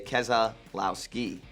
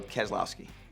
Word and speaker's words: Keselowski: this one is tough if you ask my mom my dad my uncle my grandparents they say kesa allow ski like AK as a blouse key I don't like to pronounce it that way because people just butcher it so I just go Keselowski you can pronounce now